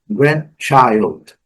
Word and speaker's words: grandchild: Alguns dicionários até trazem esse D como pronunciado, mas tem que no dia a dia, grandchild.